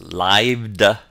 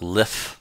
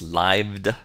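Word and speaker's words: lithe: or advertise boastfully our seventh word l-i-t-h-e is pronounced lived it's not LIF it's lived it means to be flexible or Supple yeah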